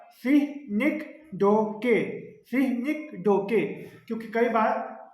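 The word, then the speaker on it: synecdoche: सीनी डोके, इसको ऐसे प्रोनाउंस करते हैं, याद रखना, सीनिक डोके, ठीक है। फिर से कह रहा हूँ, सीनिक डोके, सीनिक डोके, क्योंकि कई बार आपसे कभी टीचिंग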